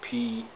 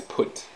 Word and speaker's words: Phut: Phut is also, Phut is spelt like this, P-H-U-T, Phut. Okay, so sometimes this H is omitted, and then it is read as put.